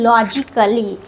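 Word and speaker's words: logically: Silent रहेगा for example लॉजिकली लॉजिकली में ए silent होता है लॉजिक अली लॉजिकली ए साइलेंट होता है।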